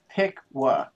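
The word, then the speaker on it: Piqua: now uh and it's pronounced pick wha okay cool you're a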